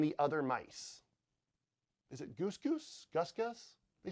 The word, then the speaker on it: Gus Gus: Is it Goose Goose? Gus Gus? They say Gus Gus in the film.